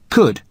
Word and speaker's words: could: u l d but the letter L is silent could now listen to the